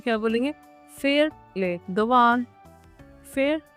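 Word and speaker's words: faire les devoirs: फेर ले दवान, फेर ले दवान।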